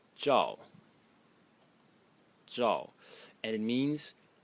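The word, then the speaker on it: 兆: And the last character is pronounced zhao.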